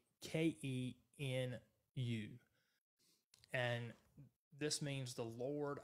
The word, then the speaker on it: Tsidkenu: I'll spell it for you one more time. It is Jehovah Tsidkenu, and that's Tsidkenu.